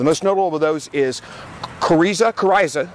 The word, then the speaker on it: coryza: The most notable of those is coryza, I think I'm pronouncing that right, coryza, C-O-R-Y-Z-A.